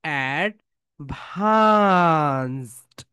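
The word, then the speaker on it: advanced: ওকে, এই ভি, ভি, ভি, আমরা যখন ভি প্রোনাউন্সিয়েশন করব, আমাদের উপরের দাঁত নিচের ঠোঁটের সঙ্গে টাচ করবে।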